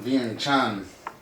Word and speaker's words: Vientiane: No, it's pronounced Vientiane.